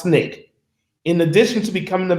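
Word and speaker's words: SNCC: it the student nonviolent coordinating committee pronounced snake in addition to becoming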